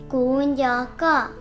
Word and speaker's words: kuv nco koj: The way to say I miss you in Hmong is Gunjaka.